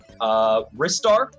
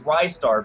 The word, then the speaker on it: Ristar: I've heard it pronounced wrists are ristar is I think the most popular one people say it's ristar because the tagline is catch a rising star and that makes sense